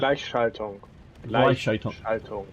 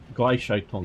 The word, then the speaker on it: Gleichschaltung: So, it's the Gleichschaltung. I'm sure I'm butchering that. Making everything the same. What? How do you say that? Gleichschaltung. Gleichschaltung.